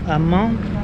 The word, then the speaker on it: Man: Dans une autre ville à Mans, parce que les gens, il s'écrit Man, mais ça se dit Mans.